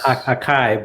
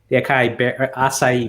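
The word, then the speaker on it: açaí: familiar with that yeah i used to pronounce that akai but you're probably right it always seemed like it was acai berries yeah my kids uh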